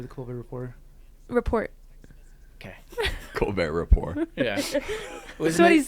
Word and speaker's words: Colbert Report: I didn't hear it either time. Wasn't it the Report? Because like he was making fun of the fact that the T's silent in his name.